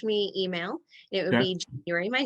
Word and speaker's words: Januarie: like the month so it's pronounced like the month but it's spelled different and by the way